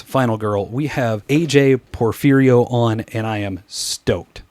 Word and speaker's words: Porfirio: We have AJ Perferio on, and I am stoked.